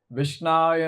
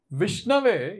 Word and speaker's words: विष्णवे: आती वो कहते हैं विष्णाय नमः, और जिन्हें संस्कृत आती है वो कहते हैं ओम विष्णवे नमः। विष्णवे यह है राइट उच्चारण, विष्णाये राइट उच्चारण नहीं है, सही उच्चारण नहीं है।